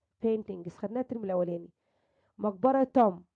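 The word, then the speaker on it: tomb: مقبرة توم. البي صارت اي بي خفيفة بعدين من غير منطقة يا ولاد. توم لكن البي تقيلة بنطقها عادي جدا.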